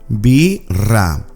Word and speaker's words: birra: BIRRA. BIRRA means cerveza. Quiero una birra. Hace mucho calor. I want a beer. It's very hot. BIRRA. Remember to pronounce the double R a bit stronger.